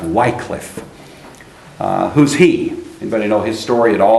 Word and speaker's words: Hus: more correctly spelled with one and more correctly pronounced who's John who's his name actually means and bohemian